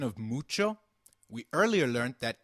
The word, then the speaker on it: mucho: notice the pronunciation of mucho? We earlier learnt that h is always silent in Spanish... However when combined with c it is pronounced as ch as in church Nice to meet you Mucho gusto As we saw...